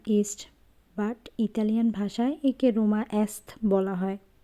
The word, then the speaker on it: Roma Est: But Italian ভাষায় একে রোমা এসথ বলা হয় উচ্চারণ অনুযায়ী।